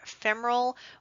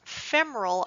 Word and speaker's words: femoral: and please when we're referring to that word femoral please be advised it is pronounced femoral not femoral you will have surgeons jump on you if